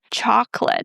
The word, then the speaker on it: chocolate: So, we start with choc, then we drop the second o, we don't pronounce it, and l a t e is pronounced as lit. Not late, but lit. So, repeat it after me.